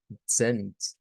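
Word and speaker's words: zehn: Esta debemos tomar en cuenta que la debemos, digamos, pronunciar esa Z como que es una TS, es decir, es esa africada, ¿verdad? En donde se une una T a una S.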